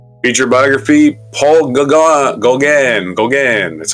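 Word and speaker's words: Gauguin: surrender in September Ma biography Paul go Goan Goan that's how you pronounce it French painter born June 7th June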